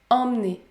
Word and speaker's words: emmener: exemple emmené emmener emmener la lettre e est suivi par la voyelle nasale m plus par une autre qu'on sonne encore le m dans ce cas là on prononce la voyelle nasale en est emmené emmener si vous souhaitez continuer